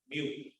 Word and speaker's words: mu: we are going to introduce is called as Mu so it's pronounced as mu which is Mu okay so